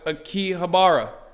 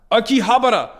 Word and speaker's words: Akihabara: capital of the planet I'm gonna say it wrong a key habara Akihabara we are on our way